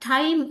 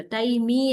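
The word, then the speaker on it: time: Like that okay so here ಟೈಮ್ ಅಲ್ಲಿ ಎರಡು ವೋವೆಲ್ ಇದೆ ಆದರೆ ನಾವು ಟೈಮ್ ಅಂತ ಅದನ್ನ ಉಚ್ಚಾರ ಮಾಡ್ತೀವಿ. ಐ ಅನ್ನುವಂತಹ ಆ ಸ್ವರದ ಸೌಂಡ್ ನಮಗೆ ಕೇಳಿಸುತ್ತೆ ಒಂದೇ ಅಲ್ವಾ? ಈ ಅನ್ನೋ ಶಬ್ದದ ಸೌಂಡ್ ನಮಗೆ ಕೇಳಿಸೋದಿಲ್ಲ. ಟೈಮಿ ಅಲ್ಲ ಇಟ್ ಇಸ್ ಟೈಮ್ ಅಷ್ಟೇ ಓಕೆ ನೇಮ್ ನೇಮ ಇಟ್ಸ್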